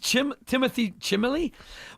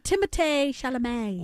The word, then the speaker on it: Timothée Chalamet: What did Timothy Chimley? What did Timothy Chalamet? It's pronounced Timothée Chalamet.